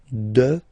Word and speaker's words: dehors: Okay, so remember, final S not pronounced, and then this H in French doesn't exist phonetically, so you don't pronounce it. Dehors, dehors, dehors.